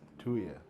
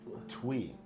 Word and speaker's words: Thuy: Her name is Thuy. Yeah. Thuy. She's from the Bay Area, or I'm sorry, I just read this again. Twee. It's pronounced Twee.